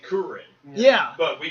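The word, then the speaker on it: Kuririn: Because just like Krillin's name is spelled like Kurirn. But his name is actually Kurin. Yeah. But we call him Krillin.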